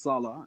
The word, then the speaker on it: Sala: The next presenter is Sale from the Community Action Planning Group. Ms. are you? Hello, Mr. Sorry, Mr. my apologies. Not a problem. It's pronounced Sala. It can get confusing.